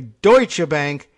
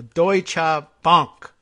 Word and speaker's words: Deutsche Bank: players, we will say, remind ourselves this way, Deutsche Bank, heavy on the doi, and then you'll get it right. That's how you can pronounce it. So Deutsche Bank, as long as we're doing the whole thing in German.